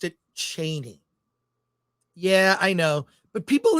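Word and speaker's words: Chani: nerd cookie Channel um she says Frank Herbert pronounced it Cheney yeah I know but people in the movies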